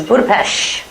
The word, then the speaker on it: Budapest: on our list is budapes is that's how they say it in Budapest and I wanted to